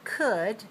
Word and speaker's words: could: Notice that when we say the word could, the L is silent. Don't pronounce the L.